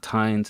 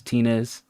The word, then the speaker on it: Tinez: It's not Tines, it's Tinez.